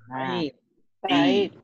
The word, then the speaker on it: بعيد: بعيد. بعيد. We have two syllables. ب and then عيد. بعيد.